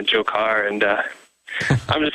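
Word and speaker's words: Dzhokhar: is fleeing right now, his name is Jokar. The DZH sound. I'm having a difficult time pronouncing that name, but we'll go with that pronunciation. Go ahead, sir. Yeah. So if you just, plug it into like Google Translate or that sort of thing, it totally makes the J sound and the Jokar.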